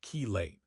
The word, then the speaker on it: chelate: The term chilate pronounced chelate from the Greek for claw is also used to describe this type of interaction.